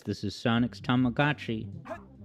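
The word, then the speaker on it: Tamagotchi: says this is Sonic's tamagachi or tamaguchi as everyone incorrectly pronounced it when it was just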